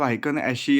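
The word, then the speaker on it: हाइकेन आशी: क्या है पता है इसको क्या कहते हैं मतलब आइकन एशी या फिर कुछ लोग अशी कहते हैं मतलब बहुत सारे डिफरेंट डिफरेंट प्रोनाउंस है लेकिन मैं नॉर्मली आइकन एशी बोलता हूं तो उस हायकन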